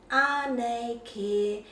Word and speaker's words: Anei Kē: So Anei, and then this is a long air, Kē, Anei Kē, and just really listen. The children will always pronounce that correctly.